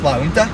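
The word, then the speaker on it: La Junta: at right now so Jay and Utah silent so it's La winter that makes sense like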